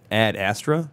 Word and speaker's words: Ad Astra: you Peter okay so we saw a ad astra that's how it's pronounced right yes okay with a Brad Pitt